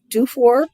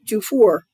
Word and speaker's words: Dufour: Well, there are only two ways to pronounce it, Dufour or Dufour.